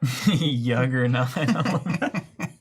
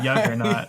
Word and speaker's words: Juggernaut: Yuggernaut. Proper pronunciation is Juggernaut.